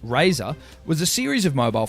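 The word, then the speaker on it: Razr: back in the day the Motorola Razer styled R A ZR pronounced Razer was a series of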